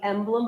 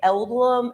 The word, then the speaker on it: emblem: been talking about the emblem of the land I love and a lot of them say elem like they they don't say it correctly but when we sound